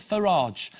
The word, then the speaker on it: Farage: leader of you Kip who likes his name should be pronounced Nigel Farraj so please welcome Nikhil